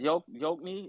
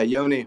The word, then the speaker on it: Yoni: Yo, that's Yokni. Did I say it right? Yeah, Yoni, what's up?